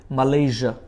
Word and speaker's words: Malaysia: তারপরটা হচ্ছে MALAYSIA, আমরা বলি এটাকে মালয়েশিয়া, কিন্তু মালয়েশিয়া না, এশিয়ার মতো করে এটাকে উচ্চারণ করতে হয়, বলেন মালয়েশিয়া।